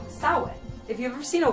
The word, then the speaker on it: Samhain: you might know about the celtic holiday called samhain if you've ever seen a word that looks like champagne it's actually pronounced sound now the history of halloween goes back forever